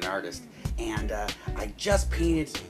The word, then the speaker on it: artiste: hi everyone starving artist here again uh e is silent and artist and uh I just